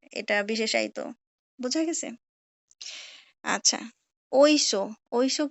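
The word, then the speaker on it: Oysho: বিশেষায়িত বোঝা গেছে আচ্ছা ঐস ঐস কি যদিও এখানে এস এইচ আছে কিন্তু ওরা উচ্চারণ করে এটাকে স কারণ স্প্যানিশে কোন স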